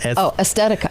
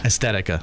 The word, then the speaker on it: Aesthetica: Oz, wrinkles, age spots, more or less getting more in-depth with skincare and how do you pronounce this word? The top word? Aesthetica. Aesthetica.